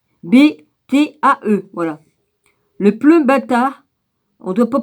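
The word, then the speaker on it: plumbatae: Le pleumbata, on ne doit pas prononcer le E qu'au bout, là, au bout de lanière.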